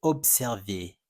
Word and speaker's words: observer: you will see that is actually not a Z sound. It's a s sound.